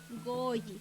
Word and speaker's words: goyi: Entonces ahí vemos en el ejemplo del goyi, por ejemplo, que es una vocal alargada y pues se tiene que pronunciar alargadito la vocal O, goyi, para decir 2.